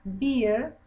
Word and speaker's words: beer: Cuando es el oso es a bear, cuando es una cerveza es a beer. ¿Ok? La cerveza se pronuncia beer, el oso se pronuncia bear.